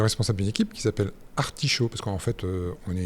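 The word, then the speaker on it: Artishau: d'une équipe qui s'appelle Articho parce qu'en fait on est une équipe de recherche en Bretagne. Alors sauf que Art s'écrit d'une manière bien spécifique A R T I S H A U.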